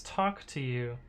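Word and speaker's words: TOCTOU: better i guess uh do you also pronounce t-o-c-t-o-u as talk to you oh i see that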